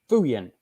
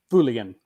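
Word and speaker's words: Feuillien: maybe tomorrow or Friday this is the saint fuyan quadruple yes it's pronounced fuyan oh it's a quad the quad nice I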